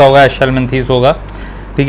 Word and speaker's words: Aschelminthes: उनको पता होगा कि इसको मैं हेलम थीस नहीं छल मंथ बुलाता हूं छल क्यों बुलाता हूं